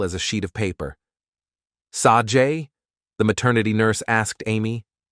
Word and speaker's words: Sage: But it's Sajay, Amy insisted. Now, at 18, Sage had 2 sisters named Age, pronounced A-J, and Lage, pronounced La-J Smith, and